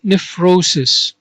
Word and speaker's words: nephrosis: Now the first term here, nephrosis.